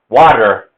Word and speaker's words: water: Now T, for some reason, American English decided to change the T to a D. Water, water. And we're actually pronouncing T as a D for delta.